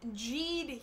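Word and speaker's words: Geed: So yeah, we're looking at Jeed here. That is the correct pronunciation, but there's a lot of debate over the correct romanization of his name.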